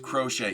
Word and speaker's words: crochet: Crochet is pronounced crochet.